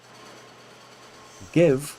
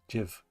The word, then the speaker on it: give: Give comes, it's an I after a G, but it's pronounced G anyway. If it was a French word, it would be pronounced J, jiv.